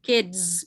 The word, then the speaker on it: kids: Ada S, jadi bacanya kids, pakai Z dia.